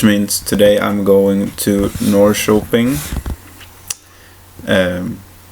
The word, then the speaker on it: Norrköping: today I'm going to North shopping and it sounds weird in English I don't sure if that's how you pronounce it but it's norrköping in Swedish and to watch the